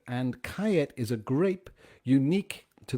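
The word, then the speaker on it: Callet: it it's ca double l et which we pronounce here kait so it's a blend of surah and kayat and kayet is a grape unique to the balearic islands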